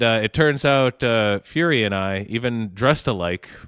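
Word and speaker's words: Furie: It is Fury. Yeah, Matt Fury. It's not furry.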